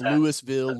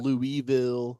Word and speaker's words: Louisville: have ever met have no idea how to pronounce that city's name. Yeah. Yeah. It's Lewisville, Louisville.